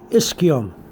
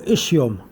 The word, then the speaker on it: ischium: with this here but you find it pronounced both ways depending who's saying it and why i'm not